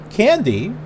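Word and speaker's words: Kandy: that we're going to candy with a k pronounced okay hold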